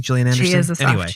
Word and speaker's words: Gillian: but um also because she's a soft g isn't she jillian i like movies like